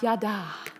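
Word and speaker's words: ידע: Bible scholars in the room it is correctly pronounced yada but I have more fun with it the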